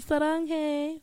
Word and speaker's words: saranghae: Saranghae.